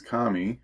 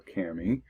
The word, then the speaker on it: Kami: next one which is Kami or Cami uh either way you pronounce it it's still amazing